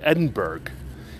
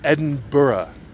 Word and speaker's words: Edinburgh: fact that the bloody place is not called Edinburg it is not called Edinburg it is pronounced Edinburough Edinburough such an ass newscasters at Fox News